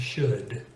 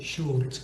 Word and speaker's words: should: other could would and should it's not cooled wool that should could would and should so if you learned